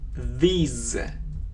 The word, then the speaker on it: these: Это слово these. These. В чем разница? Значит, вы просили как-то выделять есть какие-то важные моменты. Здесь это произносится как z. Z. И долгий звук i.